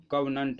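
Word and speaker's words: covenant: चलिए, आज का हमारा नेक्स्ट वर्ड है कवनंट। ये जो है नाउन की तरह यूज होता है। इसका जो प्रोनाउंसिएशन होता है कवनंट होता है।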